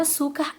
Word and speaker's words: açúcar: Bom, já descobrimos que a sílaba tônica da palavra açúcar é o su.